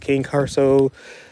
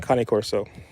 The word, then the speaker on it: Cane Corso: Some people pronounce it King Corso, but it's definitely Cane Corso.